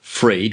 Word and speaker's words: Free-ed: Freed, which is spelled FEREED.